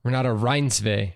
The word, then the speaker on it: Renate Reinsve: Renate Reinsve.